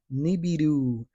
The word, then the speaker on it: Nibiru: Nibberu. Nibberu. Nibiru.